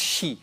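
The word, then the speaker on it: Xi: It's pronounced she, okay?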